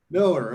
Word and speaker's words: Mueller: name wrong i'm sorry is it mueller i'd say miller miller okay well i had 50